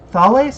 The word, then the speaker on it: Thales: his name is aspirant i'm going by greek pronunciation just because the zone is inspired by the greek elysian fields thales so t-h-a-l-e-s aspirant thales